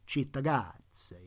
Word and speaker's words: Cittàgazze: (You go to give it the Italian pronunciation, *Cittàgazze*, you know?)